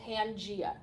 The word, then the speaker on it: Pangaea: a super continent called pangea pangea i don't know what the extra a is for you don't pronounce it pangaea so scientists how they